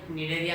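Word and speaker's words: Cnidaria: Spelling C से आती है पर उसको प्रोनाउंसिएशन निडेरिया कहा जाता है और कोइलेंट्रेटा कहा जाता है.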